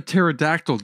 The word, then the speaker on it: pterodactyl: can't you hear a pterodactyl's go to the bathroom because the P is silent because there's a P